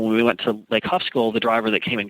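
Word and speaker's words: Khövsgöl: And speaking of Lake Hufskull, am I saying it correctly? Hufskull. Hufskull. Yes.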